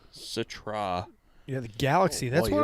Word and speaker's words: Citra: mosaic citrus probably like pines citra citra it's pronounced citra yeah the galaxy that's what i'm not really